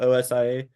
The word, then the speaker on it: Osia: getting the new, I don't know how to pronounce, like OSA, the OSIA. The Asia? The Ossia, there it is, that implant.